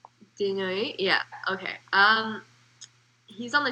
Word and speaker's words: Desnoyers: French. I don't think the S is pronounced. Desnoyers?